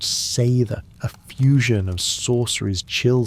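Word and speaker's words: seiðr: Delving into cedar's shadowy embrace pronounced sther, a fusion of sorceries chill spiritual healings, warmth and vengeful runes for unrequited hearts.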